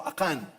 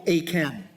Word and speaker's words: Akan: Kaya po yung pangalan ni Akan, buti sa Tagalog, Akan talaga eh. Kasi po yun ang tamang pagbigkas, no? Akan. Hindi po Achan. No? Kasi sa English, Achan. Yeah. Pero doon po sa salitang Hebreo, ay ito po'y talagang Akan. Kaya tama po ang Tagalog, no?